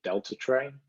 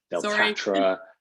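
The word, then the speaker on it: Deltatre: it wrong I've heard delra no you're good you're good honestly I say it's like Delta the airline and Trey the thing you bring biscuits in when you're having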